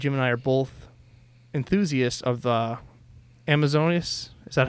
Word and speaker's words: Amazonas: I know that Jim and I are both enthusiasts of the Amazonas. Is that how you say it? Amazonas magazine? Amazonas magazine, yeah.